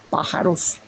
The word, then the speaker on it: pájaros: que ser pájaros, porque la palabra pájaros tiene mucha más sonoridad, tiene 3 sílabas, aves es nada más 2 sílabas, pájaros, es una palabra esdrújula muy fuertemente acentuada, y se quedarán los